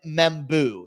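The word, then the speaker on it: Armand Membou: Armand Membo, I've heard him called Membo, Membu, all different kinds of things. It's like every time I think I know the pronunciation, I see it differently, but I think it's Armand Membu. That's what's in the Beast from Dane Brugler, so that's what I'm going with.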